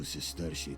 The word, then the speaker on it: sesterci: But I barely have two sesterci to rub together. That's how you pronounce it, Sesterci.